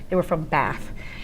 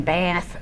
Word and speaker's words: Bath: But a funny thing about that is that we perceive Bath as being the British pronunciation, but that's really only used in the south of England, and Bath is in the south of England, so that's why that's relevant.